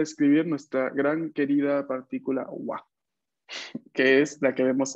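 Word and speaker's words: は: Usualmente la pronunciación es ha, pero cuando la veamos, cuando veamos esta, después de palabras como gakse o así, marcando el sujeto, la pronunciación es wa.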